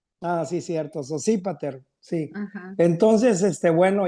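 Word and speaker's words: Sosípater: Sospater está como en inglés o no sé qué sépat porque tiene acento en la i. Ah, sí, cierto. Sépípater.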